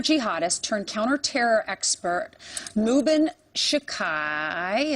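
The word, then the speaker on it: Shaikh: Former jihadist turned counter-terror expert Mubin Shekai, am I pronouncing that correctly? Sheikh, I think.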